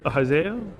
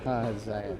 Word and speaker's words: Ahaziah: Yeah, Ahaziah? Is that how you say it? Ahaziah. Ahaziah. Just another way to say it.